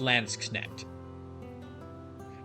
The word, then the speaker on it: Landsknecht: I might have been mispronouncing it, but I believe it's pronounced Landsknecht.